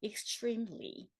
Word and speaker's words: extremely: 여러분, 제가 여기 왜 tr 핑크로 했는지 아시죠? extreme이라고 하셔도 상관없습니다. 그런데 이제 트림보다는 요즘에 트림처럼 추 발음하는 거라 extremely, extreme, extremely 이렇게 하시면 더 좋겠죠? 자, extremely.